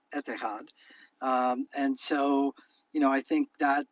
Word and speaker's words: Etihad: in Arabic letters, but the way you pronounce it would be etihad.